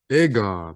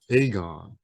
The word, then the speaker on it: Aegon: with one thing yeah i've been saying his name wrong it's aegon not aegon have you yes i've